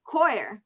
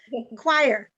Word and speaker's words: choir: family family what about um um coir no i'm saying i'm pronouncing this word wrong choir choir thank you dennis sometimes this happens